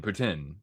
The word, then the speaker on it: poutine: How about the Montreal Poutine or Putin? Putin. That's apparently the the correct way to say it.